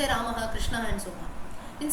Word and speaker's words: Rama: But then the right way, if you ask someone the right spelling, it is going to be Rama only, Rama, Rama. That is the right way of saying.